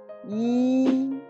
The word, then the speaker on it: 一: Normalement, le caractère yi prononce en premier ton yi quand il est tout seul ou à la fin d'un mot ou d'une phrase où on les considère comme un chiffre normal.